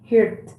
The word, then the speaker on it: heard: Heard. Huh? More than E is more like A.